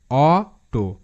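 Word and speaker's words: auto: সো এ ইউ পাশাপাশি অ হিসেবে উচ্চারিত হয়, এ নিয়মটা জানলেই হয়ে গেল।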